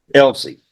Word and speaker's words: Elzi: Sir, how do you pronounce it? Elsie.